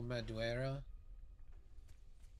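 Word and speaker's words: Madureira: little examples of uh Joe Madera that's how his name is pronounced it's very much his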